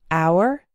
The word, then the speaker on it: hour: The H is silent in the words hour, honor, and air.